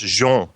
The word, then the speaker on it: Jean: It would be pronounced Jean en français.